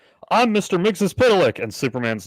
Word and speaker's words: Mxyzptlk: The one that I know, because that show introduced me to it, was Mxyzptlk. Okay. And, well, here's why I remember. Because when he shows up, he says, "I'm Mr. Mxyzptlk," and Superman's like, "Mr.